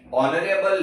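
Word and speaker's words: honour: है, ये सब में एच जो है वो साइलेंट हो जाता है, ओके। ये जो साइलेंट है वही सिखाने के लिए मैंने तुम्हें एग्जांपल दिए हैं कि ये जो कॉन्सोनेंट है वो साइलेंट हो जाते हैं, तो हम बोलेंगे इसको ऑनेस्ट, ऑनरेबल, ऑनर, ओके, वह यह एक ईमानदारी वाली गलती थी।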